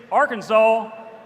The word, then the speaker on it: Arkansas: Kansas vote first off is pronounced our can saw like you picked up the hammer and you saw all right next thing is Arkansas originates from the qual